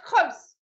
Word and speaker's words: Gouws: I said Gouws.